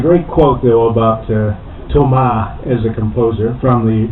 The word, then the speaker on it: Thomas: working at the classical music station I must pronounce his name charl Lou Ambrose Tom in fact he was director of the acclaimed